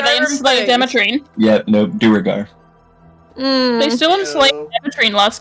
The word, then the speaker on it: Duergar: I pronounced them as Draugr, which caused everyone to attack them without remorse because Skyrim, but it's Duergar.